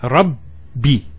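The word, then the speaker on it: رَبِّ: The first ba takes a sukoon. And the second takes a kasra. So it's rabbi.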